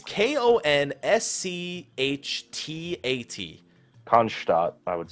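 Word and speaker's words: Konschtat: However the fuck that's pronounced. It's K-O-N-S-C-H-T-A-T. Konstadt, I would say.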